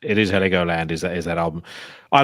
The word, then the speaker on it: Heligoland: I think is it Heligoland or Heglioland? Yeah, I think it's Heligoland. I have no idea how to pronounce it. The album that I listened, I don't know how to pronounce that either, but that's like Mezzanine. Is that how you pronounce it? Yeah. I think that's like, and you were correct. It is Heligoland.